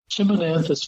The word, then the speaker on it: Chimonanthus: I won't try well it chiman like Chim chimy Chim uh in this case we're talking about a shrub not a chimney chimonanthus precox winter suite and